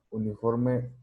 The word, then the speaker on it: uniform: Porque dice, because the pronunciation of uniform begins with the sound of a consonant and not a vowel.